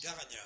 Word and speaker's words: Garagna: Et donc du coup, c'est Garania, c'est ça qu'on dit, que ça se prononce? Garagna, c'est ça, ouais.